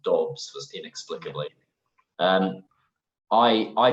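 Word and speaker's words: Doubs: okay uh I know it's not because he's dogs he's sorry even though it's spelled d-o-u-b-s as you can see here it's pronounced Dobbs first inexplicably um I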